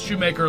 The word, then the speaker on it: Shoemaker: that problem with Shoemaker it's Shoemaker like it sounds and they'll go u-u-hched exactly that's why I say like you make shoes and they still go